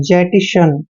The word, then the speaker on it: jettison: यहाँ पर JE और TTI को जेटी पढ़ना है, जेटी, और SON का उच्चारण शन करते हैं, जेटिशन।